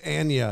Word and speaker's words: Anya: She's Anya, is how she pronounced it. Anya.